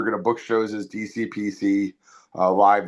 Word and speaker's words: DCxPC: We decided we were going to book shows as DCPC uh, live. The X is silent, by the way.